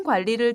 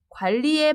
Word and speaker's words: 관리: 세우는 것이 좋습니다 시간 관리를 잘못하면 일을 성공적으로 마치기 어렵습니다 관리에 발음을 주의하세요 관리 관리 4 지금까지 계획과 관계에